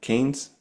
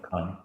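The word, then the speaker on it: Cannes: Khan, how do you say that? Canes. Can Oh, the French one. Con. Yeah. Con.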